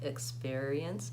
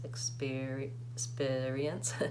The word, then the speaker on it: experience: a vowel it as in and didn't like experience experience that's challenging for me to say it that